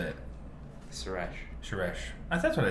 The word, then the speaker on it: Suresh: Suresh. Suresh. That's what I said, isn't it? Like Sir and then Esh. Suresh.